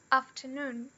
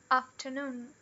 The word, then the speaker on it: afternoon: Então, aqui a gente tem a palavra afternoon. Afternoon. Na pronúncia RP ou na pronúncia americana, afternoon. Afternoon.